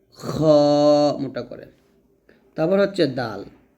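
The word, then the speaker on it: دال: তারপর হচ্ছে দাল। দাল হবে জিব্বার আগা সামনের উপরে দুই দাতের গোড়া সংখ্যা লাগিয়ে দালটা আমরা পাতলা করে উচ্চারণ করব এবং চার আলিফ টান দিব।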